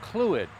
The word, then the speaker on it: Clwyd: It's actually pronounced tea, like the drink, and Clwyd, even though there's no K in there.